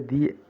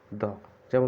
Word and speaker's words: the: কিন্তু যদি কোনো শব্দের প্রথম অক্ষর কনসোনেন্ট হয় তাহলে সেই শব্দের আগে বসা দি এর উচ্চারণ হবে দ। দি এর উচ্চারণ কি হবে? দ। যেমন হচ্ছে দ্য ব্যাগ, দ্য ক্যাপ, দ্য tree.